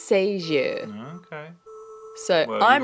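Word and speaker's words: Sagée: Now, every other person I've heard read or do any kind of information on this girl says Sager, but I looked up the French pronunciation and it's Sager.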